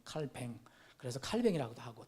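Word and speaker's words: Calvin: 쯔빙글리라는 사람하고 요한 칼빈, 존 칼빈, 원래 프랑스계니까 발음을 칼뱅이라고 하잖아요. 프랑스 말로는 칼뱅.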